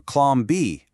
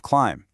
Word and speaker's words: climb: But if you do that, you end up saying things like kern or clom b instead of climb.